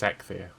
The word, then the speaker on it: Eikthyr: Is that how you pronounce it? Yes. No idea. I looked it up. It's Eikthyr.